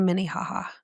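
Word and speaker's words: Minnehaha: Like M-I-N-I, ha-ha. Minniehaha. Oh, yeah. Mini ha-ha. Yeah. Yeah, like Minnie Mouse, ha-ha.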